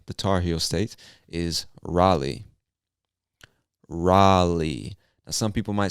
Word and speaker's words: Raleigh: i would say raleigh r a l e i g h so don't let that spelling confuse you we pronounce it raleigh raleigh north carolina all